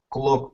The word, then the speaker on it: clock: Clock on. That's it. Good. Careful of the pronunciation, because it's not O, but it's A.